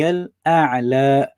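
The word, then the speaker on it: الأعلى: What I noticed is sometimes students they say Subhana Rabbi al-A'la, so just say la at the end, Oh, yes. al-A'la. So they A'la. just treat it as a fatha, whereas it should be Subhana Rabbi al-A'la. You've got to stretch that because it's a long vowel as opposed to a short vowel.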